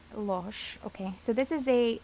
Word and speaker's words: Losch: oopsies this is the cosmic tarot by norbert losch am i pronouncing the name correctly losh okay so this is a u.s games deck